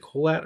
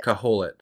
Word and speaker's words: Kohelet: You know, I'll do my Google searching just to see if is it Kohelet or how do you say Kohelet? Kohelet. It's Kohelet, son of David.